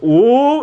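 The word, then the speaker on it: 五: 10 five in Chinese the number five is pronounced oo and it's really fun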